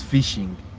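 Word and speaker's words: phishing: The word is not actually fishing, but it's pronounced as fishing. JK, is that the right word?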